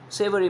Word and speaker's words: savory: or savory in taste savory means it rhymes with flavoring okay the food which